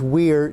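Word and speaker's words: Wyre: And you'll see here that I have the proprietors as the names Weir Did, that's W-Y-R-E, it's pronounced Weir Did, and Itzel Poorly and Andy Dunn.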